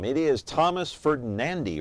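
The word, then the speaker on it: Ferdinandi: Electronics and Appliances so what is the correct pronunciation of the last name it is Thomas ferdinandy right yes hey I finally got it f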